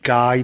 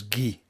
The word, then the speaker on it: Guy: in kevin hofstadt's tweet i know his name looks like guy but it's actually in the flemish pronunciation is ghee give hofstadt so he's